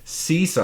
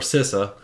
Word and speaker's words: CISA: security services out there cisa or sisa uh depending on how you pronounce it um offers free